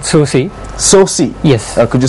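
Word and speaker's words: SOOSCI: Our social network is called SOSI. SOSI? Yes. Could you spell that for us?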